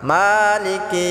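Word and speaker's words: مَالِكِ: মালিকি ইয়াউমিদ্দিন। মালিকি, মাটা আমরা এক আলিফ টেনে পড়ব। মালিকি ইয়াউমিদ্দিন, দিনটা আমরা তিন আলিফ টেনে পড়ব। অনেকে আছে মালিকি কি টান করে, এটা টান হবে না। মালিকি ইয়াউমিদ্দিন।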